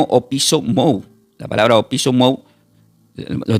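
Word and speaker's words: ὀπίσω μου: Esa palabra venid en pos de mí del griego se pronuncia como opiso mou.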